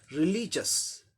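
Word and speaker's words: religious: इसके ठीक पहले ली, ये सिलेबल ली है, इस पे स्ट्रेस आ जाएगा, यहाँ जोड़ देना है। रिलीजियस, रिलीजियस हम लोग बोलते हैं, लेकिन सही उच्चारण क्या हो जाएगा?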